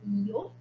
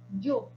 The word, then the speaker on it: yo: Então, eu posso falar io, sem nenhum problema em espanhol. E a gente também pode fazer um som como se fosse um DJ em português. Então, olha, yo. Pode escolher a pronúncia que você gostar mais, sem nenhum problema, ok?